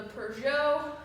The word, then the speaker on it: Peugeot: And then we have the Peugeot. It's French, you don't pronounce the T.